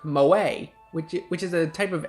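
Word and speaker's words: 萌え: Yeah, oh yeah, if you guys are wondering, this word, it might just look like the name Mo, but in Japan it's pronounced moe, which is a type of anime art style.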